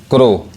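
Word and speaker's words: crow: ने क्या पढ़ा कि जिसके लास्ट में ओ डब्लू आएगा उसका उच्चारण क्या होता है ओ होता है जैसे एल ओ डब्लू लो सी आर ओ डब्लू क्रो लेकिन इसमें भी क्या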